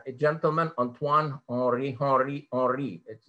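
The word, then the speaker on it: Henri: gentleman antoine or rihari or it's not pronounced harry but ori becquerel he discovered radioactivity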